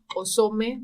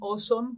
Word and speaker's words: OSoMe: en Estados Unidos y le llaman de hecho aome osome pero lo pronuncian aome como grandioso en español y este eh esta